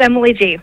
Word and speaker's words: Gee: as Emily G Emily is a do I pronounce that right Emily first of all yes it's Emily G thanks for having me on the show oh